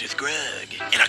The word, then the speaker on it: Grug: Rhymes with grub. Grug.